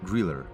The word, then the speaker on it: Grille: The German word Griller means cricket, and the letter E at the end is pronounced as an R, Griller.